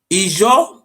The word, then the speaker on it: Ijo: Ijo, this is how pronounce it, not how they call it Ijo.